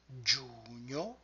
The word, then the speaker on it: giugno: And then the word giugno, giugno. Giugno contains two of those clusters, giugno, and this combination of letters will always indicate the same identical sound. G-I-U, Giu, like Giuliani, Giuseppe.